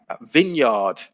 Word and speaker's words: vineyard: there's a silent n vineyard where you make wine there's a silent e and vineyard and wrinkle with a